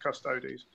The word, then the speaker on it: custodes: the Horus Heresy like custodes is pronounced custodes. Yes, it's custod it's and if you have an argument, Ellen Merritt said it very clearly, Latin does not equal Gothic.